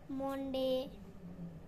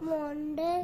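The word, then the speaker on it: Monday: মন্ডে। না মন্ডে নয়, বলো মানডে।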